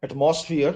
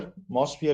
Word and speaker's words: atmosphere: molecular it's molecular then it's not atmosphere at mosphere is what we normally say it's atmosphere uh you can continue with